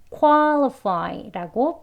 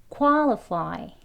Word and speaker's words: qualify: 그 다음에 이 fy에 해당하는 y는 I 소리로 마무리되죠. 그래서 fy 하면 되겠습니다. 이건 쉽죠. 위에 이제 quality, quantity 두 가지 하고 나니까 이거는 좀 쉬울 겁니다. 그래서 qualify라고 발음하시면 되겠습니다.